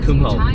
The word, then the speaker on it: Kumho: Oh, I don't know about Kumho tires, but it's actually pronounced Kumho. Tire bitch, yeah.